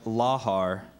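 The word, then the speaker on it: lahar: begin round 14 laar are there any alternate pronunciations I just have laar laar l a h a r laar that's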